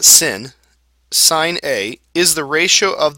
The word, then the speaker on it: sine: say trig ratios right the first one is pronounced sign okay it's pronounced like the word si GN